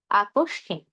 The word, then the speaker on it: আকস্মিক: আবার বলছি, শব্দের শুরুতে, মাঝে, শেষে যেখানে মফলা যুক্ত হোক না কেন আমরা ময়ের উচ্চারণ করব না। তবে শব্দের মাঝে বা শেষে যদি ম যুক্ত হয় তাহলে যেই ধ্বনির সঙ্গে ম যুক্ত হয়েছে আমরা সেই ধ্বনির দ্বিত্ব করব। আর দুই ক্ষেত্রে আমরা কি নাকি স্বরে উচ্চারণ করব।